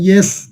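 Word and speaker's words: ياء: আপনারা বলেন না ইয়েস ইয়েস, এই ইয়েস বললে এই যে ইয়া ইয়া, এই যে উচ্চারণটা কি হবে? ইয়েস থেকে ইয়া।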